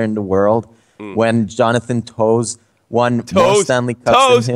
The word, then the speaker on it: Toews: Oh, well, actually, his mom is French and she wants it to be pronounced the French way.